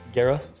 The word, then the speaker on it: Guerra: Gara.